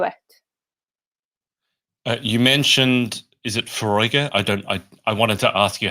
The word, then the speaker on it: Foróige: Yeah, so it's pronounced Foróige.